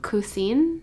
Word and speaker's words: Cousin: I know a lot of people pronounce it different ways, but I think when I went in the store they pronounced it the Cousine.